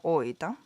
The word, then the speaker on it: 大分: I'm half Japanese English, and I don't know why I love fish kanji, and I live in Oita. I love fish kanji. Fish kanji. I live in Oita. Oita あるある。大分をだいぶって読まないんですよね。そうだね。だいぶって読んじゃうかもね。初めて。大分を知らない人はそうなっちゃう。Is tourism from foreigners still active in Japan?